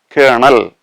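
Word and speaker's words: colonel: special care or attention our next word is kernel kernel the spelling is c o l o n e l kernel as all of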